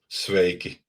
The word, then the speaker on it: Sveiki: Sveiki.